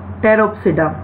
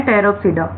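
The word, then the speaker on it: Pteropsida: Next class है टेरोप्सिडा, P silent है इसमें, क्या नेम है? टेरोप्सिडा।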